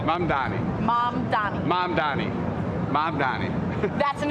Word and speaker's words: Mamdani: Mamdani. Mamdani.